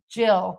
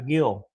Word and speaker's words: gill: A commonsized wine glass holds half a gill. No, he's saying it's pronounced gill. Gil. He said it's pronounced Jill even though it's spelled Gil. Okay, so it's pronounced Jill instead of Gil.